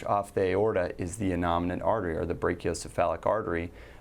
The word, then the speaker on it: innominate: Innominate.